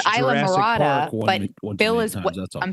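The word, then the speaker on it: Islamorada: Then I have I went to Isla Mirada. Is it Isla Mirada or Isla Mirada? Isla Mirada. Isla. You guys are gringos. That's where it's Isla Mirada. Are at, boy. The S is silent, Bill.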